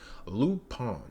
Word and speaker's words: Lupin: inspiring today's episode so Loop in the third Loop pwn that's how they pronounce it you know French people